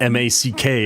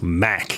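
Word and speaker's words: Mack: should be periods right it's not M K it's Mac cuz there's no dots in the middle it's a Volvo yeah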